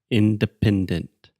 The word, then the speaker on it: independence: For example, in the English word independence, accent comes on the first and third syllable, independent.